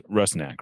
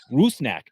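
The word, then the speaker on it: Rusnák: it they just say rusnack they don't kind of have that you know Eastern European vibe to it but uh I don't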